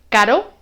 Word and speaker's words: caro: Con el sonido suave solo toca una vez, caro, y con el sonido fuerte rebota, toca varias veces, 2, 3, 4, etc. Carro.